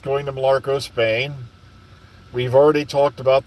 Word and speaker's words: Mallorca: It's Mallorca. Okay, I had no idea. Like I said, I always butcher pronunciations.